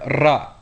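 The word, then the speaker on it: ر: The next letter to be discussed is the letter ra. This letter is pronounced much like the Spanish r. Although this sound is not a common English sound, practice the ra by making a whirling sound as your tongue flaps against the roof of your mouth.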